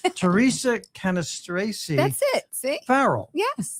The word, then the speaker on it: Cannistraci: Theresa Cannistraci That's it. See? Farrell. Yes. Okay. Thank Now, you. however, you also have an Italian way of pronouncing it, which sounds wonderful. Yes. How- Cannistraci.